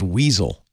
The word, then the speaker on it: WSL: this week said uh WSL should be pronounced weasel I did give it